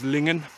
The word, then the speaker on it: Lingen: So I've always heard it pronounced Lingan rather than Lingen or others.